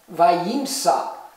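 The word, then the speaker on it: וימצא: it and that's it remember um the aleph is silent vayimsa and he found and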